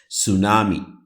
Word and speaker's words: tsunami: hippopotamus hippopotamus tsunami It is T so that T is pronounced in the Japanese term.